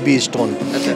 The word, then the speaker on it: Bestone: बेस्टोन, somebody call it बेस्टोन, somebody call it B-stone। So strategically हमने तरह से आप इसका प्रोनाउंसिएशन करो, वही बेस्ट है, वही बेस्टोन आता है।